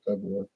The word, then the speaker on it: February: I thought by this time, February, however you say that word, it's spelled February, but I don't think people say it that way. I just say February.